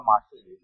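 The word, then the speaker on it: Marcel: आणि मार्शल म्हणतात, मार्शल spelling आहे मार्शल, उच्चार आहे त्याचा मार्शल.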